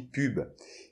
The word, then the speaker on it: pub: Alors il faut pas confondre avec un pub, un pub anglais ou on boit de la bière parce que ça s'écrit pareil finalement, mais on dit pub.